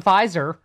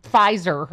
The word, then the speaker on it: Pfizer: It's power doesn't sound like Pfizer.